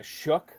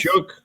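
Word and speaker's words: Shough: I I I've heard uh uh Shook on this. Shook. Yeah. Here's the thing. Doesn't have a K anywhere in his name.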